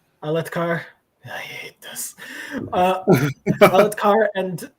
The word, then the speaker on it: Alethkar: Speaking of, so Elhokar is given charge of freeing Althakar. Please tell me I pronounced that right. Alethkar? Alethkar.